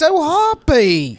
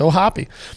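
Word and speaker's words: O'Hoppe: want to say phonetically, Hoppe. 2 consonants. Is that vowel supposed to be long? Yes, with the 2 consonants. If there was only one, it would be hope.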